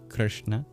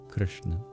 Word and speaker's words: Krishna: So it's just a very unaspirated ka in Krishna. It's very soft in that sense. We spell it Romanized Krishna, but there's actually no I. It's just an R. Goes straight from the K into the SH sound.